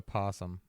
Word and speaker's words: opossum: this creepy opossum toy it's just a possum but it's spelled up awesome right yeah but I